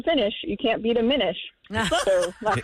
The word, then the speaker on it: Minish: Not finish. Well, Minish is fine. Minish. Do people mispronounce Well, that? I Minish. can't imagine they do. Are they saying mine-ish?